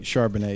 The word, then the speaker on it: Charbonnet: The same kind of reason I liked, was it Charbonnet, however you say his name? Right, Charbonnet, yeah.